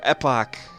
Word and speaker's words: Epoch: copyright laws are anyway this is the epoch or epic or epic however you want to pronounce it now I can't be